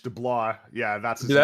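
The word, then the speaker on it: DeBlois: Also worth noting Dean Dubois who was also uh I think I mispronounced his name because they co-directed both Lilo and Stitch. B L O I S DL. It's French Delah.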